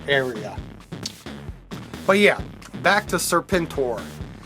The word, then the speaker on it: Serpentor: but yeah back to serpentor it's spelled Serpent and then capital o period capital r period but it it's Ser pentor from uh GI Joe and this I mean